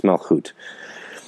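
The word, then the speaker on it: מלכות: So Malchut is the actual pronunciation of the word Malkut. It's not Malkut, it's Malchut.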